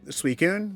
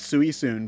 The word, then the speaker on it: Suicune: often i think because as a kid i called it sui sun for like 10 years i always pronounced it with the heart c yes yeah yeah no we uh we always called it suey soon or suey kun or something like that we over pronounce the eye sweet good all right